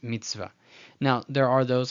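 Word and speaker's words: מצוה: The shva, when it's preceded by a short vowel, is silent. The chirik here is a short vowel because it has no yod. It's chirik chaser. So I'm just going to ignore the shva. Let's just pretend it's not there. And then I'm going to put the vav, kamatz, and hey. Mitzvah. So it's not mitzvah, mitzvah. It's just mitzvah.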